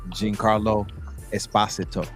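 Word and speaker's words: Giancarlo Esposito: how he told me he said it's Jean Carlo Esposito I'm I'm always gonna pronounce it wrong because if that's how it's pronounced it he spell it a different way yeah oh wow okay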